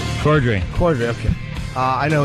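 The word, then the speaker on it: Corddry: it's Rob Rob Kroy you say his name cordry cordry okay uh I know who he is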